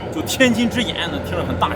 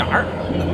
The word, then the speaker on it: Tianjin Eye: from Beijing came here Don't pronounce it as an Erhua sound The Tianjin Eye sounds very grand Don't be the Eyer of Tianjin no The Tianjin Eye